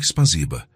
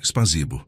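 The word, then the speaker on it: спасибо: "Te spaziba, não espazibo", Shimala explicou. O é mais suave.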